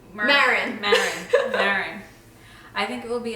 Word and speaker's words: Maron: Mark Mann. What's his name? Maron.